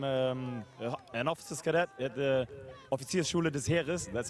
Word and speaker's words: Offiziersschule des Heeres: I'm an officer's cadet at the Offiziersschule des Heeres. That's how you pronounce it in German.